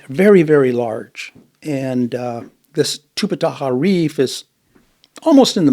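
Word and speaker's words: Tubbataha: Tupataha. Tubataha, yeah.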